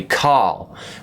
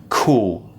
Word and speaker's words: call: call off our meeting notice the pronunciation of this an american would say carl we say cool notice where my tongue is i'm doing a very round shape with the mouth and the tongue goes back oh cool i need